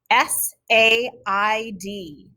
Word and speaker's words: said: got this this is our last trick word s a i d said now boys and girls these are 24